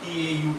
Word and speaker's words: tau: This symbol is actually pronounced as tau, T-A-U, tau.